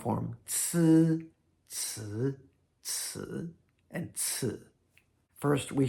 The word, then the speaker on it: ci: The first one is like a TS sound, ci, and then, or maybe even TSZ, Z, Z.